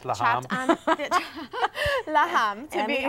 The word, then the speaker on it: Lahme: It's pronounced Lahme.